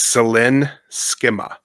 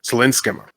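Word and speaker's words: Céline Sciamma: Again, I looked up how to pronounce this and it wasn't exactly right. It's Selen Skma, I believe is how we say that. Sinska.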